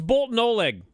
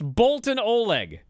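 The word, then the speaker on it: Boltin Oleg: and by the way it's Bolton Oleg I don't care what Dave said it's Bolton Oleg what are you gonna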